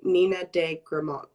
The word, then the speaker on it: Nina de Gramont: we spoke this morning am i pronouncing your name correct when i say nina de gramon yes okay great i